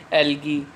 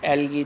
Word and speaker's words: algae: कितने, four group में divide किया होता है ना, कौन कौन से होते हैं, बैक्टीरिया, फेंजाई, प्रोटोजोआ और सम एल्गी। ये स्पेलिंग है एल्गी की, ALGAE, एल्गी, ठीक है, जिसको क्या बोल देते हैं अपने, शैवाल।